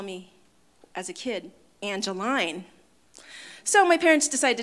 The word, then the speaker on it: Angelin: e and so hence everybody's now saying angeline but you know one little thing that i know i use to screen out telemarketers is how they pronounce my name and only my close friends and now you because we're all friends here know that it's really angeline that's how it's meant to be pronounced so with that said